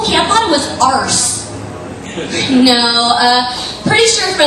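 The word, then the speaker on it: Arce: My last name is Arse. It's spelled out A-R-C-E. And before, like, anytime I have a comedy show now, the people that are hosting are always like, how do you say your last name? Because they don't want to say it how they think it sounds. I'm like, Arse.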